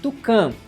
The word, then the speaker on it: Tukan: A Volkswagen mesmo já divulgou que o nome se pronuncia Tucan, referência direta ao Tucano, aquela ave, né, muito encontrada aqui no Brasil.